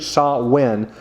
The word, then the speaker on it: Samhain: Now, a lot of people, when you see the pronunciation, it looks like Samhain, but it's actually Samhain, who is the Lord of the darkness.